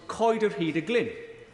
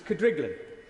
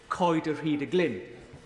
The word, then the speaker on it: Coed yr Hyd y Glyn: To my amazement, she said that the one she recalls best was Coed yr Hyd y Glyn, a property within my constituency that even locals wrongly pronounce as Cydriglan.